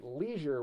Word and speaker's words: leisure: You'd use the long E sound in leisure. So many Americans say leisure with the long E sound, but the English, Australians, and others may say leisure, as in the short sound of the phonogram EI.